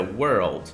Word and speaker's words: world: Então não é word, é world.